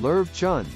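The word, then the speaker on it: Löwchen: Flowy manes make some dogs look like lions, but the Lochen, pronounced Lerv Chun, has a name that actually means little lion dog in German, with emphasis on little.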